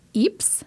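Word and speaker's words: Ypres: actually open with a flashback to 1918 in Eeps Belgium thank you for the pronunciation guy because I would have never got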